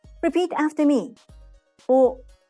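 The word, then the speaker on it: を: The O sound is grouped in the consonant W group, but it's pronounced the same as O in Japanese. Repeat after me. O, O, O, O.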